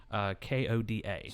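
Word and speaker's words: Hoda: But I guess the host at that point with this morning show was Kathy Lee and Coda, I believe is how you pronounce her name. It's just Koda.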